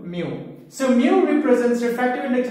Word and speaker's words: mu: and I told you it is read or pronounced as mu, M-E-W, mu.